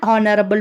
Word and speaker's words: honorable: The first letter h in these words is silent, and the first sound we hear is that of o. Since o is a vowel, we use an before the words honorable and honor.